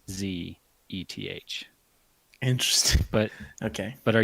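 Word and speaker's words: Szeth: they just pronounce that zth yes zth they pronounce it zth as in a z and then eth they just eth yeah the S is silent is in the audio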